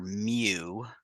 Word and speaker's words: mu: mean for a population is that Greek letter mu pronounced mu it's like a funny looking you our